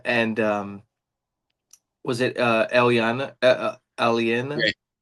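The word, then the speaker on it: Aliena: Uh Jack Jackson and um was it uh Alana Alien? Alien. It is the pronunciation. Yeah. Yeah. Alen. Alien A.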